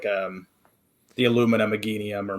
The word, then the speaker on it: Meganium: anything like the Illumina Meganium or Meganium. I can never pronounce that Pokemon's name. I think Meganium's right. Meganium.